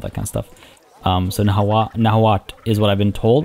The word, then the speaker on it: Nahuatl: Nahuat, I've been told, is how it's actually pronounced. Nahuat. I always thought the TL was like a, not a click, but like a very distinct sound.